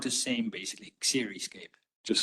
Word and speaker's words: Xeriscape: It's pronounced the same, basically, Xeriscape.